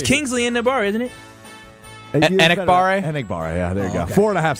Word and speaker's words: Enagbare: Enagbare, yeah, there you go.